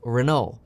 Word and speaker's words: Renault: company renault and that's spelled renault but it's pronounced renault now let's take a look at that partnership